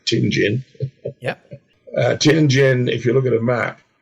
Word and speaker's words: Tianjin: Pronounced Tianjin.